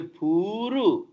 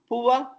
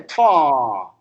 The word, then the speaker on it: poor: We say puru. Poor people. No. Pua. Americans say paw.